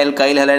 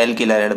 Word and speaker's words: alkyl halide: English में उच्चारण हो जाता है एल्काइल हैलाइड, हिंदी में उच्चारण हो जाता है एल्किल हैलाइड, बात एक ही है।